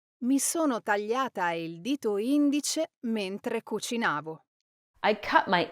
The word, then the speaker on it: indice: well, in this case, the correct pronunciation is indice. Now, this is a classic case where stressing the wrong syllable changes the word completely. When the stress is on the first syllable, Indice, it means index finger. But when the stress is on the second syllable, indice, it means the third person singular of the verb indire, meaning he or she announces.